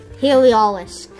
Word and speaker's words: Heliolisk: I forgot how to pronounce it. Heliolisk.